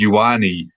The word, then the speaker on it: Ioane: And his surname is like Ioane. Yeah. And I was like, I gotta get the pronunciation of this right. Like, I have to actually look it up. It's Ioane is how you pronounce it, but like.